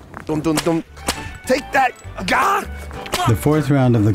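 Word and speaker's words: 尜: Well, this is Ga. It has a small on the top, a big in the middle, and a small on the bottom. It's pronounced Ga.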